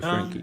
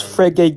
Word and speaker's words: Frege: Frankie Geach can talk. Okay. Yeah. Yeah. Go ahead. How do I pronounce it? Is Yeah, it? it's Frege Geach.